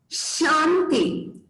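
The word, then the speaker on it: शांति: So Shanti, Shanti, Shanti. Krishna, श यहां पे, कृष्णा, पुरुषा, श behind the teeth, shanti.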